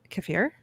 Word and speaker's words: kefir: Kefir. Okay. This doesn't really help. It's definitely kefir. Kefir. Emphasis on the Thanks, Jerry. Yeah. Now there was this one. Yeah. Kefir.